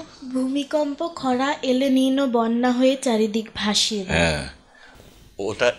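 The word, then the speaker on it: El Niño: এখানে যেমন কালবৈশাখী হয় ওটাকে বলে এল নিন ওটা এলে নিন না কেমন উচ্চারণটা ঠিক করে নিতে হবে ঠিক আছে ওলা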